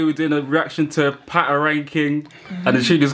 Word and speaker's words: Patoranking: Is it Patron King? Oh, sorry if I pronounced your name wrong. Should the Ghanaian introduce it? Ooh. There you go. I'm about to pronounce it. Patron. Patarankin. It's Patarankin.